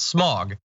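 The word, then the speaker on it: Smaug: It should be pronounced as if an English person was saying it. Smog.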